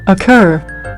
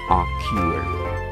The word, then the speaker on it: occur: International Phonetic Alphabet so in American English it is occurred occur in British English so it is not a cure yeah okay so this